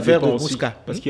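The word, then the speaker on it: Muska: Musca, ça s'écrit comment ça? M-U-S-K-A. Mais on prononce Musca.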